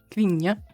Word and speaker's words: kvinna: So the K is kind of like silent. Vinja. And like it's like in like there's no like space. Like there's not a syllable space between the N. So it's like en vinja. En kvinna. En vinja. And it's not nya, it's n.